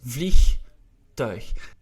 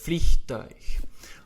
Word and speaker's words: vliegtuig: Again, what's difficult in vliegtuig is basically, first of all, the IE, which we pronounce as E, not as I, like in English, in Dutch. We have the G, and then we also have a difficult diphthong, which is the U and the I, which we pronounce as ui. Het vliegtuig.